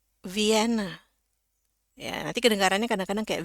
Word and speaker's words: Vienna: Jadi kalau kita baca ya ini sama aja nih mau Inggrisnya Inggris Amerika ataupun Inggris British dua-duanya sama aja. V N ya ini masih saya pisah-pisah dulu. V N E. Oke sekarang kita sambung Vien.